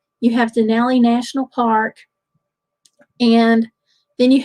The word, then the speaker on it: Denali: So, Denali, and it is not Denali. It is Denali if you're talking about it in Alaska. You don't pronounce it like the truck.